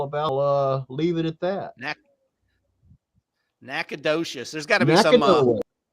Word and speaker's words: Nacogdoches: So, since you brought that up, neighbor down the street, how do you pronounce that town that you're from? You and Jim. It'd be Nacogdoches, it's known as Naca Nowhere.